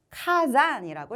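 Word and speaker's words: 火山: 화산 두 가지의 한자가 하나의 단어를 이루었으므로 음독으로 가면 되겠죠. 카잔이라고 읽으시면 됩니다.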